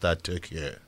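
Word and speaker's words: Türkiye: When we come there, we'll be taking a look at our last and final match, which is Netherlands against Turkiye.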